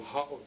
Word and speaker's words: ha'o: And would you say he'o in Western or ha'o? Ha'o, okay, like that.